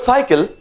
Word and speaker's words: cycle: In this word cycle, the first C is soft C, the second C is hard C. One C is like sir, one C is like K.